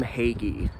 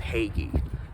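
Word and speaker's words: Hagge: The G does a G, and the E is very strong. So I'm going with Hagee.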